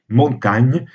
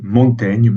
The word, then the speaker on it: Montaigne: sans le dis donc il devait effectivement prononcés montagne comme en principe pour n'aurait dû on devait prononcer montagne à l'époque de la vie de l'auteur ensuite on a réintroduit la graphie originale pour ainsi dire et non et on a adopté la prononciation moderne montaigne qui en principe ne correspond pas à la prononciation de l'époque voilà alors après ces